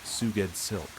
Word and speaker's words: Sgoueddslk: Sgoueddslk, pronounced Suged Silk.